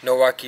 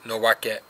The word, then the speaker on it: 野分: Today, Nowaki is more commonly pronounced Nowake.